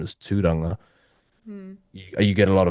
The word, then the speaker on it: Tūranga: So like my actual full name is Tūranga.